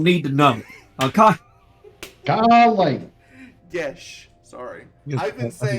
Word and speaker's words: geas: If you really, it's pronounced Gesh. Gesh. I am Southern. Hear me be. Gesh. Is it Geas is Gesh? Gesh. It was today I learned. I thought it was geese.